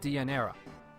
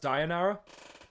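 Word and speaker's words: Deianira: he even injured the love of his life diera in order to save her it's actually pronounced dianara and I didn't know that I was just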